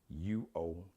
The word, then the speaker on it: Uomo: Mario Uomo. Mario Uomo. The U is like wah. Got a wah sound.